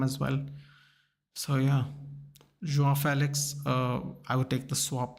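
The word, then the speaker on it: João Félix: João Felix. In Goa, people actually call themselves Felix. Yeah, they don't say Felix. Felix or Felix is actually a first name as well. So yeah, João Felix.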